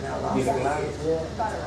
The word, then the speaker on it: Newfoundland: Am I pronouncing it right now? Newfoundland, yeah.